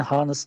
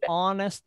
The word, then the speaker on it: honest: words beginning with h that h is not pronounced like an hour an hour an honor okay for this one this word yes dictation writing starts with h but we don't say harness we say honest for ah we say